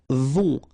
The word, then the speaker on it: vont: Then, ils vont. Final T not pronounced, and then O-N together. On vont.